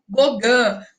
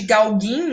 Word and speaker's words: Gauguin: deixando o sezane atrás a gente fala do ogã é só pode chamar também de gauguin né não tem problema algum é a forma abrasileirada de pronunciar o nome deste francês que vai influenciar o fovismo